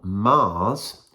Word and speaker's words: Magrs: Right, so in a confusing piece of admin, I started reading this book before Paul Mars, who another Paul kindly has told me how to pronounce Paul Mars's name in the comments, got